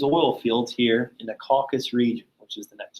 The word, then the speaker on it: Caucasus: It was a name given to the series of Axis and Soviet operations in the, how do you pronounce that word? The Caucasus? Yeah, in the Caucasus area of the Eastern Front of World War II on July 25th, 1942.